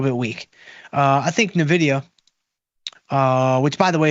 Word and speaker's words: Nvidia: Uh, I think Nvidia, uh, which by the way, if you are new to the show, is pronounced Nvidia.